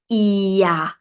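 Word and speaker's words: เอีย: When you pronounce it, it's gonna sound like ear. Like your ear. Sounds same. Ear.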